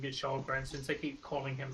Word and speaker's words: Kallgren: Kallgren, yeah, they are pronouncing it Kallgren. You are correct, Dave. We are just going to start pronouncing it Kallgren since they keep calling him that.